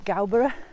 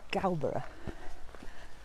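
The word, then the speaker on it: Gowbarrow: that i went to galbara say it right it's galbra i went up there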